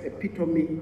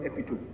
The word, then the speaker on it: epitome: the minority leader that the word is epitome and not epitome.